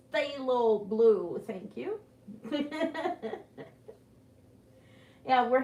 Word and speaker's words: phthalo: right there yes and everybody that word is pronounced phthalo blue thank you yeah we're having a wraith